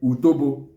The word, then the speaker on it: utobo: Okay, so the other one is what we call in English is called APE, while in Igbo is called utobo, which is the general Igbo name, while some parts of the Igbo land call it utepe, U-T-O-B-O, utobo.